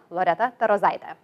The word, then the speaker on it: Loreta Tarozaite: In Lithuanian, my name would sound like this, Loreta Tarozaite. So it has a rolling R.